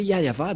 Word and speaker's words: Yahvah: Si vous n'avez pas prononcé Yahva, donc vous êtes des idolâtres.